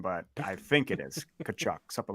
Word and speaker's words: Tkachuk: Again, no idea if that's how you pronounce her last name, but I think it is Tkachuk, something like that. Yep, Tkachuk, you got it.